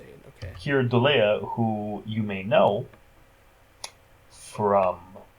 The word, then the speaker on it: Keir Dullea: Well, his name is the character's name is Peter, but the actor's name is Keir Dullea. Okay, so I Oh, was right Here, then. that's how you say it. Okay. Keir Dullea, who you may know from a movie we